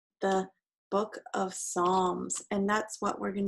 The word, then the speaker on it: Psalms: week the Book of Psalms the named songs it starts with the letter P but that P is silent that's why we call